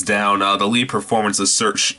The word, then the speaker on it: Saoirse: the lee performance of search saoirse ronan that is how you pronounce maybe Saoirse Ronan um